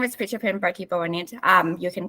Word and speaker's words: Pichapen: Did I get that right? Pichapen. Pichapen, yes. That's how it's pronounced.